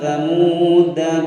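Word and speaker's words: ثَمُودَا: Setelah huruf dal ada alif, di atasnya ada tanda sifir, kita anggap tidak ada. Bacanya ala inna samuda kafaru rabbahum. Nah begitu ya, samuda. Alifnya dianggap tidak ada.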